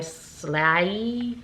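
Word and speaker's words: SLAAI: SLE is that slle how do you pronounce that s l a a i slay SLE I'm just going to call it SLE let me know below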